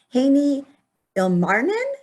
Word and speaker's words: Heini Ilmarinen: and tech podcasts and we're excited to have haney ilmarnin is that how you say it yeah very